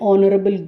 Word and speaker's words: honorable: so an is used the h at the beginning of these words is silent next let us go